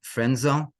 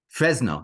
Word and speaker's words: Fresno: area of the city of uh frenzo if I pronounced it correctly I think so Fresno excuse me of course I didn't now it got mixed up Fresno in the northern California